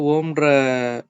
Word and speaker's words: ஓம்: இப்ப வந்து ஓம்ன்ற பீஜியம் பாத்தீங்க அப்படின்னா இழுத்து வந்து உச்சரிக்கணும். ஓம் அப்படின்ற மாதிரி வந்து இழுத்து வந்து உச்சரிக்கணும்.